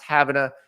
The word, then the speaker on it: Havana: to transfer to Florida State now he's from having a Florida spelled like Savannah Cuba but it's pronounced having a so he did it twice I have no